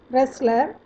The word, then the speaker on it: wrestler: Similarly, letter W is silent when R precedes it. Example, wrestler, write, wrote, written.